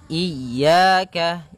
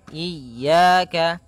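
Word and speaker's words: إِيَّاكَ: ini hati-hati dalam pelafalannya ada dua kesalahan yang sering terjadi yang pertama yaitu dia memanjangkan Iya nah seperti itu harusnya dia ee ditekan dan dilembutkan iaka iaka nah kemudian jangan sampai dibaca panjang jangan iaka tidak ada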